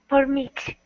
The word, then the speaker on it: permit: When this is a noun, like it is here, we have to emphasize the first syllable. So permit. Thank you. Yep. Permit. Great, great. When we say permit, then it's a verb.